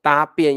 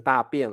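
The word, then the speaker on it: 搭便: 对，搭便要不要念成大便了？大便是 poo。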